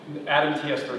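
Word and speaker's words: ADAMTS13: The way you pronounce when I say add TS13, sound like you said add S13. Adam TS13. Okay, Thank you. I didn't know if there was a better way to pronounce it. It's just kind of a tongue twister, you know. Yeah, like Adam, like Adam and Oh, Eve.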